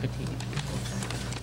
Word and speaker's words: Petit: There's no E at the end of Laura Petite's name, even though it's pronounced Petite.